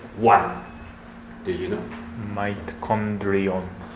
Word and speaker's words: mitochondrion: Mitochondrion. Mitochondrion. Yes, it's a little bit difficult, but this comes from the Greek, right? So mitochondria. Mitochondrion. This is hitotsu. This is takusan. Okay. One mitochondrion, many mitochondria.